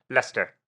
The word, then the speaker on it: Leicester: How do you pronounce it? Leicester.